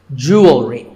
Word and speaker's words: jewelry: number 44 is jewelry it's spelled differently in american and british english but it's pronounced the same you will read jewelry it's not jewelry and it's not jewelry it's jewelry up next is the word